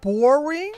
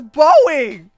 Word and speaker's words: Boreing: wrong his name is boring his name is boring I thought it was boing his name is boring